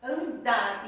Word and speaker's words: andar: Então, andar, andar, termina com R. Porém, a sílaba forte é dar, andar.